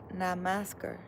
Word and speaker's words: Namaskar: Namaskar is a greeting in India. Namaskar? Am I saying it right? Namaskar? Namaskar.